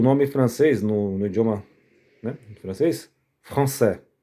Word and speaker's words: français: E o nome francês no idioma, né, francês, francê, ó. Francê. Não, gente, ó. Não é françois, tá? François é Francisco em francês. Francê é o idioma.